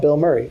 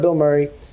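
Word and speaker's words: Bilmuri: He's like, "I'm going to be playing with this group called Bill Murray." I'm like, "Bill Murray?" Like the actor, but it's spelled B I L M M U R I.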